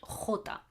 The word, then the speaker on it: jota: this one letter J which in Spanish is called Jota okay a second Jota Jota so you can tell already what the sound of this letter is Jota it's a hard it's a guttural sound I do with my throat oh okay we find